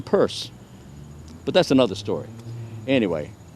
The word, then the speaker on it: Pierce: President Franklin Pierce, direct descendant of President Pierce, who didn't actually say Pierce. He pronounced his own name Peirce, but that's another story.